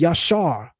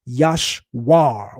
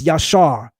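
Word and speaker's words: ישר: The root of Yeshu is yashar, not yashwir with a w. It's yashar.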